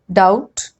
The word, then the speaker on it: doubt: And rule number 2, B is usually not pronounced before T. Like in these examples, det, debtor, doubt, doubtful, subtle, subtleness. Okay, so you have to just look at these combinations and remember that you're not supposed to pronounce B.